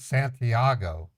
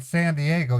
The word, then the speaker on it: San Diego: where the hell is Santiago it's in California you said Santiago that's in another country San Santiago where's where oh you're saying San Diego you just don't know how to pronounce it right right God you suck